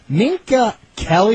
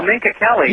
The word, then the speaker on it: Minka Kelly: Uh not going to change the subject, but Ninka Kelly, is that a correct pronunciation of her name? Sorry, say again. Yeah, Minka Kelly. Is that Derek Jeter's dating right now? Oh, Minka Kelly.